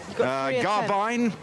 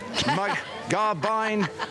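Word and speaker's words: Garbiñe: see I think give it another go rert garbine garbine Mota spot on that's the one okay she's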